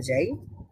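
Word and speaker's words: ز: যদি পরবর্তী অক্ষর গুলোতে যাই এখানে শুরুতেই রয়েছে যা বলুন যা এটা কিন্তু জালের মত এত নরম করে হচ্ছে না জাল আমরা যখন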